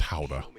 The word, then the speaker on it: Gouda: It's also pronounced howda. If you're Dutch enough.